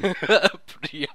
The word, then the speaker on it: Priyam: That was a good pronunciation. Priyam.